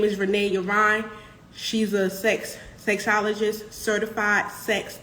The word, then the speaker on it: Renée Yvonne: Yes, I'm Renée Yvonne, and I am a sex coach and educator and counselor who specializes in working with Gen Xers and baby boomers.